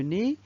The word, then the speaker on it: nez: pas un enfant deuxièmement le nez le nez il a une lettre qui ne se prononcent pas c'est le z et finalement le bonnet